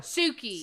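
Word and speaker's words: Sukey: SUKI. SUKI. OH MY GOSH. THE GIRL'S NAME IS SUKI, except it's spelled s u k e y.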